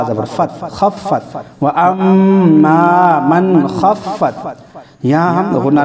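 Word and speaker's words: وأما: फ़हुव फ़ी ईशतिन रादियह वअम्मा मन ख़फ़्फ़त मवाज़ीनुहु, मवाज़ीनुहु। हिज्जे यूं करेंगे, वाव ज़बर वा, हमज़ा मीम ज़बर अम, व अम, मीम अलिफ ज़बर मा, व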